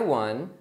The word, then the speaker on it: won: Então você viu que o verbo ganhar, que é win, no passado, one, tem a mesma pronúncia do número um, que também é one.